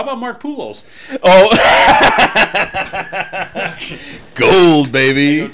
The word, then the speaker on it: Poolos: Poolos, we figured out. Tim called. Yeah, I was saying it wrong. It's Poolos.